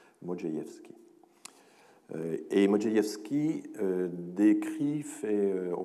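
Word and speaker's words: Modrzejewski: Et donc, voilà, le RZ se prononce J, Modjeïevski.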